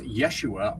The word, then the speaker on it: Yeshua: have existed, there was no letter J in the alphabet, which is why you'll hear people refer to him as Yeshua on videos. That's how they believe his name would have been pronounced.